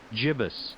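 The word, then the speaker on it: gibbous: to the actual entry, it does list both. But it's interesting that it only lists one of the pronunciations on the word of the day page. Jibus. I guess this is supposed to be like the more common or more correct pronunciation.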